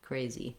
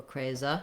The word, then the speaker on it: crazy: on that and then the letter y says the e tense e sound in this word crazy crazy so even though i'm short and unstressed i don't have a lot of time for that vowel i still need to say tense watch out that you don't want it to sound like crazy or craza you don't want it to